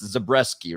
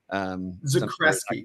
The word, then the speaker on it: Zakreski: It's Zabreski, right? Is that how you say it? Zakreski, but it's a hard K.